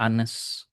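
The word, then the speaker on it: honest: Jadi pakai n, kenapa? Karena bacanya anas. H-nya di tidak kedengaran.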